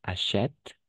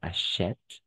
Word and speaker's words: achète: va prononcer achetant mais achète c'est pourquoi c'est pour ça à niveau prononciation oui effectivement il y a il y a un changement parce qu'on prononce achète d'accord achète et c'est le accent grave et et l'autre et